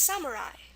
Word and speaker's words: samurai: which is at the end, is samurai. Samurai. So here you have that I sound at the end of the word. So whenever you run into this in Japanese, spell it with an AI.